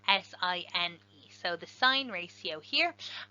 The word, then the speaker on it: sine: the sign ratio so sometimes mispronounced sin because it's s i n but that's just short for sine s i n e so the sine ratio